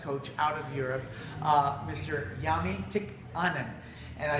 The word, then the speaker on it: Jami Tikkamen: Jami Tikkamen.